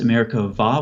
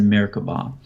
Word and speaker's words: Merkabah: doesn't have something called a doggish so it's pronounced America vow with a V sound but if you type it in Google for whatever reason you'd want to do that it's about the bee as in America bah so like I said it refers to a